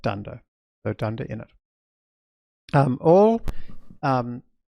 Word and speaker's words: dunder: that have special behavior they start with two underscores they end with two underscores and we pronounce that dunder so dunder in it